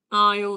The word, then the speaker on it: aisle: Aisle seat. Yes, guys. ¿Quién habrá sido el primer inglés que dijo? Se me ocurrió poner letras que no se pronuncian.